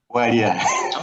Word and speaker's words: Walia: Is it Wala or Walia? Walia. Walia. Yeah, Walia. Yeah, oh, Nicholas, yeah, that's good.